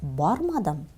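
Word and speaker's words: бармадым: Глаголы в отрицательной форме так же имеют особенность не принимать и не пропускать дальше себя ударение. Поэтому, мы произносим так: Мин кибеткә бүген ба'рмадым.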